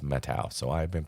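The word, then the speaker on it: Methow: for many many years I've called it the methal valley and recently I was camping there and I I finally asked somebody is a methal or metal and they said it's metal so I've been pronouncing it wrong for just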